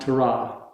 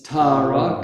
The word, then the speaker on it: Tara: the next one is tara tara so they're also equal ta and rob it's not tara and it's not torah it's tara can you say that with